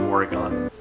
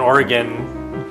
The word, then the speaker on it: Oregon: And I actually ran into a few people who commented that people in Oregon don't pronounce the middle syllable.